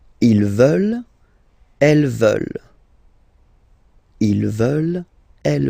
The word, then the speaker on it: veulent: And the last one, here EU, and then ENT, classic ending, but then you don't pronounce it, so you get veulent. Veulent. Ils veulent.